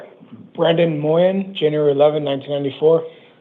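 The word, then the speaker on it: Mawyin: Brandon Moyen, January 11, 1994. Thank you very much. It's pronounced Moyen.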